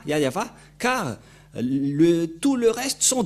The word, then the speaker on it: Yahvah: Ne prononcez plus le nom du Dieu d'Abraham et de Moshe si vous ne prononcez pas Yahva, car tout le reste sont des faux.